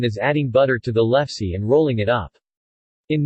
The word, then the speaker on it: lefse: lefse norwegian pronunciation elfs is a traditional soft Norwegian flatbread